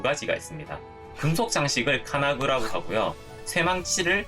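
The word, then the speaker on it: 金具: 금속 장식을 카나구라고 하고요, 쇠망치를 카나즈치라고 해요.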